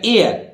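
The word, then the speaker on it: heir: इसी तरह देखिए एच ई आई आर, यहां एच के बाद ओ नहीं है, ई आई आर है, फिर भी एच यहां साइलेंट रहेगा, एयर, एयर, ये रा आधा है, एयर।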